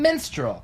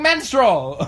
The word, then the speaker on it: minstrel: Oh, okay, well then you're just saying it wrong. minstrel. Well, how do you say it? Minstrel. That's what I'm about. Minstrel. You're saying menstrual. Minstrel. Yeah, you just said it again. How do I say it out? It's minstrel. Minstrel.